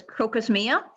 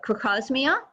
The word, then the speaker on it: Crocosmia: Crocosmia, often mispronounced as crocosmia, but crocosmia, also known as Montbretia.